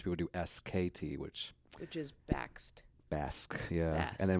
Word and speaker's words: Bakst: But you say backstabber in order to get people to pronounce it correctly. That's true. Which does help. It does. Bakst. Because you get to the T. People don't do the T.